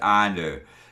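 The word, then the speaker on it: Annwn: to the W it's SP andin but it's pronounced Anu to the W Anu is the other world that that's the turn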